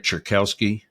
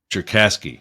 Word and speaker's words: Cherkasky: I didn't know Bill Cherkowski. Am I pronouncing this right? Cherkowski? Cherkasky. Cherkasky. Okay.